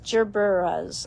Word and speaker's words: gerberas: And then gorgeous gerburas. Gerberas. I never know. Gerberas. Gerber. Gerber. Gerbers. Soft G. Soft G.